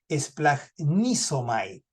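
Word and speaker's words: σπλαγχνίζομαι: si alguien es curioso splash nomai Ah tranquilo no estoy insultando a nadie así se pronuncia en griego eh Pero simplemente para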